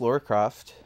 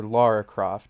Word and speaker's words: Lara Croft: tomb we control archaeologist Laur coft um or Laura Croft I should say I should have the proper English pronunciation of her name uh she's in search